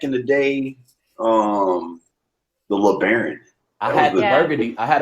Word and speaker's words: Lebaron: and then also me i'm replaced um lebaron did i pronounce that correct you did you did um